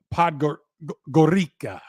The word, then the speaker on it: Podgorica: He's putting up these numbers in 22 minutes per game for SC Derby Podgorica. I believe is how you pronounce that.